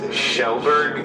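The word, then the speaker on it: Kjellberg: Also, you know, his last name's pronounced Shellberg, even though it's KJ.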